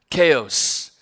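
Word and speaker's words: Chios: Chaos, right? Sounds like chaos is how this is pronounced.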